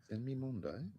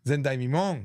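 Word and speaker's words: 前代未聞: Zendai Mimon, not Zen Mimondai.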